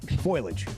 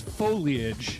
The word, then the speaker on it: foliage: Foloage. Okay. Is it foliage or foliage? It's foliage. Foliage. It's three syllables.